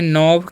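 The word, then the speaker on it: knob: तो इसे हम पढ़ते हैं नी, और इसे पढ़ते हैं नॉब, क्या पढ़ते हैं नॉब, क्योंकि यहाँ पर के साइलेंट है।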